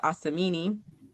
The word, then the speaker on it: Asumini: So one example I have is when I went to college, even though my name was pronounced Asamini, I would introduce myself as and I would say, "Hey, my name is spelled a sm."